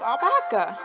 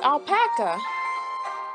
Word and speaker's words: alpaca: claire i miss i i mispronounced alpaca now it's like there's albaca it's alpaca it's it's now